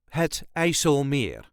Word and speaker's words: IJsselmeer: This is the way us Dutchies say Het IJsselmeer, IJsselmeer. There is a light emphasis on meer. IJsselmeer. All the letters will be pronounced. No rolling R is needed. If you're having trouble with it, you can leave that rolling R out and just say Het IJsselmeer.